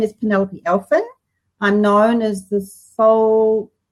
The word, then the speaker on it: Aelfin: we actually managed to pull this off Penelope elfin is am i pronouncing your last name yes because ed is